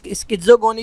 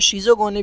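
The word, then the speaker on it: schizogony: अच्छा, इसको डिफरेंट तरीके से प्रोनाउंस किया जाता है, इसको स्किज़ोगोनी भी पढ़ते हैं, इसको शिज़ोगोनी भी पढ़ते हैं, इसको शाइज़ोगोनी भी पढ़ते हैं। They are different types of pronunciation.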